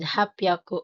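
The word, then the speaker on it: はっぴゃく: Notice the sound changes in 300, sambyaku, rupyaku, and hapyaku for easier pronunciation.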